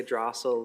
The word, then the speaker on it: Dressel: our last names too, because it's Drussel, but I say Drossel. Drossel, and he says Drussel? He says Drussel. Well, if you grew up in this area, it's Drussel.